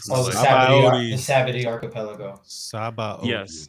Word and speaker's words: Sabaody: Straw Hats reunited on the John, how you pronounce it? Sea Body Archaeology. I can never pronounce that shit for my Oh, the life. Sabaody. Sabody Archipelago. Yes. Sabaody.